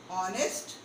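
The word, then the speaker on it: honest: आर एन ऑनेस्ट बॉय, ऑनेस्ट एच इज not being spoken.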